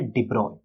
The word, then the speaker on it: de Broglie: जी हाँ, ऐसे इनके नाम की स्पेलिंग देखो तो ऐसे अलग दिखती है बट इसे प्रोनाउंस किया जाता है डिब्रॉय।